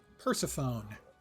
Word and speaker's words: Persephone: We've got Clove, Frost Breeze, and Persephone. Not sure why Persephone would be that color, but okay. If you prefer the non-Greek pronunciation, Persephone.